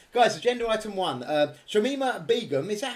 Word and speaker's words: Shamima Begum: on so um guys agenda item one um shamima begum is that how you say her name yes